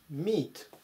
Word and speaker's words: meat: と思います。357 番、 meet 発音に注意ですね。